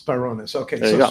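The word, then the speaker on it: Sbarounis: So it's like Spar. SBAR is Spar, Sparunis. Sparunis.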